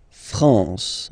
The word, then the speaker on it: France: it's this nazal okay okay La France La France okay n here naal France okay we continue final s here not pronounced same thing here and then okay thenand